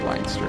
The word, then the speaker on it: Leinster: And then you can type Leinster, or Leinster, it's pronounced. Something like that.